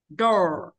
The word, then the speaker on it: door: Cái đờ, cái từ mà cô đọc là đo, đó. Đấy là đờ tiếng Việt ạ. Nhưng cô chỉ đọc cái đờ của tiếng Anh nó khác này. Door.